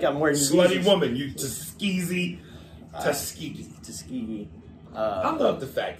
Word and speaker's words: Tuskegee: Tuskegee. I can't say it. I try like I'm wearing slutty woman. You Tuskegee.